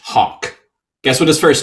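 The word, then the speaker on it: Haug: his last name is spelled h a u g pronounced Hawk guess what his first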